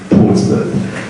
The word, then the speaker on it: Portsmouth: a place called Portsmouth that is how we pronounce oh it's bounds is for tourists but we actually say Portsmouth so uh we just had to have a